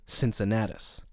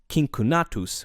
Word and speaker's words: Cincinnatus: In Latin, his name would have been pronounced Cincinnatus with hard C's, but since the name is more familiar in the English language in its anglicized form, with soft C's, I'm going to stick with that pronunciation over the course of this episode.